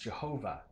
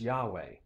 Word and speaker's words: YHWH: But the Germans, in Martin Luther's time, thought it would be pronounced Jehovah. And modern scholars think it might be pronounced Yahweh.